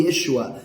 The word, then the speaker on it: Yeshua: Então, na verdade, queridos, o nome de Yeshua sempre foi Yesua, como consta em todos os escritos da vida dele. Nunca foi Jesus. Jesus foi uma tentativa tardia, posteriore de falar o seu nome, que vem lá da pronúncia grega, depois no latim e Jesus no português. O nome dele nunca foi Jesus, porque a letra J não existe no hebraico.